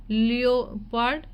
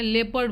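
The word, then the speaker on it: leopard: में तेंदु ठीक है लियो पार्ड ठीक है लेपर्ड बोलते हैं लियो पार्ड नहीं बोलते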